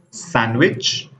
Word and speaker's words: sandwich: The first letter is the letter D. Wednesday. Sandwich. Handsome. Badge. Edge. We can see that we did not pronounce D letter here.